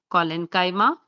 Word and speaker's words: collenchyma: So these are pronounced as parenchyma, collenchyma, sclerenchyma, and they come under the category of simple permanent tissue.